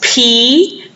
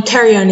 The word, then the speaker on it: pterion: So that's p-t-e-r-i-o-n. So the pterion, the p on pterion is silent, so it's the pterion is also called the spinoparietal suture.